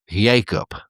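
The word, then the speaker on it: Jakob: I say his name Jacob, but he says his name Jacob with a Y, no J.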